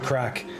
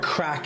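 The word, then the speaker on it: craic: why we're saying our crack is in ass crack um it's spelled differently but it's pronounced the same but if we say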